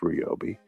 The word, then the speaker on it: Ryobi: It's pronounced Ryobi.